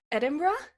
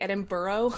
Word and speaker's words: Edinburgh: gonna try really hard Edinburgh okay mm-hmm yeah okay apparently it's very American to say Edinboro yes it is that was